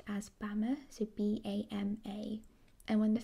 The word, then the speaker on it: Bama: by the 17th century the word was colloquially pronounced as bama so b-a-m-a and when the first europeans arrived